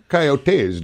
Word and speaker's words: coyotes: I've heard it both ways. Coyotes and coyotes.